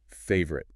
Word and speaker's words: favorite: This is a tricky one because the spelling lies to you. It looks like favorite. 3 clear chunks. But native speakers don't say my favorite sport. No! We crush it. We swallow the vowels. In American English, it's often just 2 syllables.